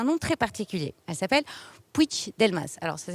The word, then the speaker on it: Puig-Delmas: Elle s'appelle Puig-Delmas. Alors ça s'écrit Puig-Delmas, mais se prononce Puig-Delmas.